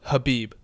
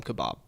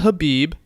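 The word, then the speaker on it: Khabib: he was fearful of Habeeb that's how you say it it's not could be not even kebapi actually he hates it when you call him kebab I read this though he likes to be called Habib Habib but I yes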